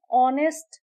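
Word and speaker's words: honest: एन ऑनेस्ट मैन क्योंकि ऑनेस्ट का H silent है।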